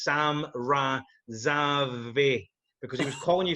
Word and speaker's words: Sam Razavi: doing the commentary, and he kept on pronouncing your name wrong. And I'm fucking messaging him like, it's Sam Razavi, because he was calling you something fucking different.